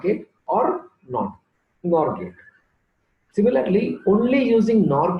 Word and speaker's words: NOR: These two are called universal gates, NAND gate and NOR gate. It is pronounced as NAND and NOR.